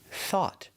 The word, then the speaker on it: thought: The O U makes the aw sound like ball and call. The G H is silent and we finish with a stop T.